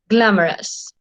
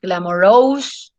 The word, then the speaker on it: glamorous: especially there is rest glamorous okay so it's not glamor Rose nope it's glamorous glamorous simple three syllables glamorous glamorous a TV